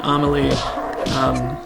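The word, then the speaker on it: Amélie: Is that, how do you pronounce it? It's Amelie.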